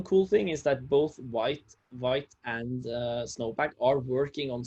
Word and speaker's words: Vite: Maybe white can be pronounced vite, like the French for speedy.